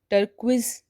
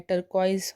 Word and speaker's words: turquoise: TURQUOISE टर्क्विज़ नहीं होता है, टर्कॉइज़ होता है।